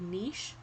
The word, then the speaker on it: niche: Each species has a unique niche, or niche, whichever way you want to pronounce it, in an ecosystem.